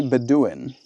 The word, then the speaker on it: Bedouin: Hey Google, what is a Bedouin?